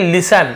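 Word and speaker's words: listen: उसी प्रकार से देखिए लिसन ये टी सी साइलेंट होता है लिस्टर नहीं पढ़ेंगे लिसेन पढ़ेंगे टी साइलेंट है लेकिन जरूर लिसन यानी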